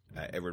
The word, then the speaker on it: Eadweard: Edward is spelled EADWEARD because Edward Muybridge was an interesting cat, and he liked to spell his name like that.